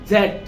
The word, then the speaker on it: Z: এক্স, এক্স, ওয়াই, জেড। এখানে জেডও আছে, জিও বলে। জেড বলে ব্রিটিশরা, জি বলে আমেরিকানরা।